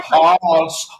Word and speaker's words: Haas: Just like with Haas avocados. Like, so we're going to take, if it was always Haas, which rhymes with pass, very easy to spell, 2 S's at the end, very common.